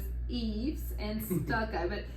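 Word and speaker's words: EIFS: a lot of homes it's not necessarily pronounced EAS that's I was laughing about Southern version but e e I thought for the longest time it was EAS thank you Jim Ellis that's funny yeah so I learned today that that's not the proper pronunciation but EES and stucco but e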